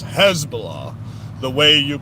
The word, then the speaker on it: Hezbollah: jihad these people humas um Hezbollah stop saying hasbalah it's Hezbollah the way you pronounce these words words it's h e z b o l l a h Hezbollah and it's Jihad J I not Jihad